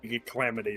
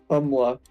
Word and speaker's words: Kamala: I always say Calamity or something like that. Kamala.